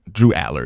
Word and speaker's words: Drew Allar: Aller now I joke around sometimes call him Aur but Drew Aller is the proper pronunciation of his name he is from Vina